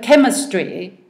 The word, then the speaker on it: chemistry: We have chemistry, which is a K sound, but spelt with a CH.